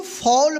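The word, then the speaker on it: fall: यहाँ पे देखिए एफ ए डबल एल, क्या पढ़ेंगे, इसको फॉल पढ़ेंगे। यानी इस ए का जो बीच में ए है ना, इस ए का औ उच्चारण हुआ है तो इस एफ का फ होगा उच्चारण और फ पे जो है ना औ की मात्रा लग जाएगा तो क्या होगा, फ और डबल एल का ल उच्चारण होगा, ठीक है।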